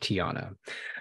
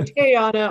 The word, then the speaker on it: Teauhna: your name t-e-a-u-h-n-a and that is pronounced Tiana yes please thank you and if you say Tayana I'll still accept that we will accept it yes uh well thank